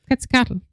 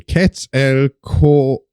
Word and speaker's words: Quetzalcoatl: I need to know how they pronounce it. Quetzalcoatl. Oh, very good, Amy. Quetzalcoatl.